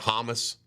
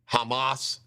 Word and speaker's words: Hamas: point this is funny I always call it hamus I know it's uh Hamas is how you're supposed to pronounce it my good buddy Chuck Melman told